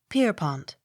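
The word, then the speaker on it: Pierrepont: e p y s peppas accent on first syllable p i e r r e p o n t pierpont p o n s o n b y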